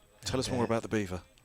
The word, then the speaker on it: Belvoir: at the at the castle beaver Belvoir as it's as it's spelled and Jonathan Agnu talks about it sometimes.